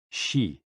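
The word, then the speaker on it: xi: with the spleen and x-i pronounced like she which connects the whole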